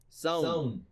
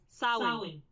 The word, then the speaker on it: Samhain: And here's 3 different pronunciations for it. Sown. Sah-win. Sow-in. Sown, sah-win, sah-win. So there's, again, some slight variances.